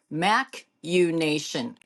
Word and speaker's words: machination: It's MACH in nations, almost like imagination. Machination is a plot or a scheme. Huh, wonder how you say it. Machinations.